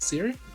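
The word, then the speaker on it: Ciri: stuff together for the stream you did uh siri right that's how you say it siri from the witcher yes siri from witcher that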